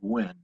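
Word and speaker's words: Gwin: a california senator and i've seen his name spelled both g-w-i-n-n and g-w-i-n-n but we'll pronounce it gwen um convinces william russell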